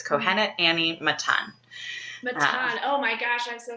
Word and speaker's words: Annie Matan: fantastic okay can you say it again kohenet Annie Matan yes perfect beautiful oh I love that and